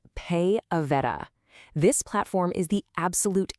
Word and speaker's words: PayAveta: It's pronounced Pay Aveta.